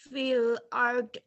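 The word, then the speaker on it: فِي الْأَرْضِ: Banyak orang yang bacanya fil ard, bunyi do-nya hilang. Padahal harus ada Fil fil ard.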